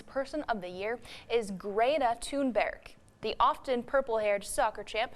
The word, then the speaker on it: Thunberg: And the proper way to address teen activist and Time Magazine's Person of the Year is Greta Thunberg.